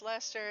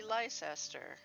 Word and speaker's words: Leicester: I mean, for instance, Leicester should not be pronounced Leicester, it should be Leicester.